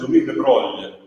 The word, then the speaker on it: Louis de Broglie: In francese si pronuncia Louis de Broglie, ma in realtà la